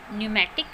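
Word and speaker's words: pneumatic: एन होता है तो वहाँ पे भी पी साइलेंट रहता है। इसके एग्जाम्पल है पी एन के न्यूमेटिक एंड न्यूमोनिया।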